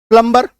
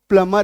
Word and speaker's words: plumber: जैसे PLUMBER, है ना, प्लम्बर हम लोग बोलते आए हैं। अभी मैं आपको अचानक से बोलूं कि इसका सही उच्चारण जो है वो प्लमर है, प्लमर, प्लमर भी नहीं, प्लमर, ठीक है।